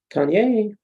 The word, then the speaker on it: Kanye: yeah and I realized we were all saying the name wrong she puts that this is on the last syllables so she was like Kanye um oh that's probably